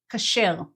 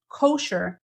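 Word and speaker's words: כשר: to Jewish dietary laws we say ker so instead of kosher stressing the first syllable having an o in kosher we have an A and we stress the last syllable K it's the same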